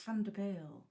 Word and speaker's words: van der Byl: I'm very English, so it's van der Bijl. But, you wouldn't be the first person to pronounce it like that.